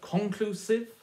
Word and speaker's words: conclusive: how does that work conclusive or conclusive yet stress on the middle syllable their knowledge or knowledge